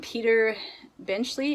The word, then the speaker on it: Peter Benchley: is the deep and this is by um peter benchley i think is how you pronounce his name he is the author of